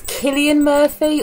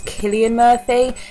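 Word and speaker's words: Cillian Murphy: yes we open with I never know how to say his name it's Killian Murphy or silly I think it's Killian Murphy he's I'll need he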